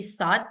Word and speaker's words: thought: tidak yakin but she thought nah ini bacanya th bukan tough tapi th gh-nya ini silent enggak kebaca thought Dia pikir Heeh I